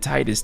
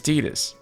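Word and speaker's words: Tidus: would have pronounced it Titus, too. But if I was the voice director or whoever uh you know whoever made the call, localization director, but his name is Tetus. Like canonically, it's Tetus.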